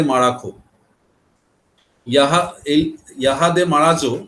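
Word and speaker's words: Marajó: ইয়াহা এই ইয়াহাদে মারাজো, এটাকে মারাখো উচ্চারণ করে দক্ষিণ আমেরিকার লোকেরা।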